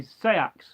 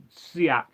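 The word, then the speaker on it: seax: way of pronouncing seak some people will say sex seak or sax there's no correct way although fundamentally the most correct and right way is seak but you know you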